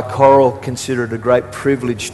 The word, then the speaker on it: Coral: By the way, my wife's name is Coral. It's not Carl, but I think here in the States you pronounce it coral, as in reef.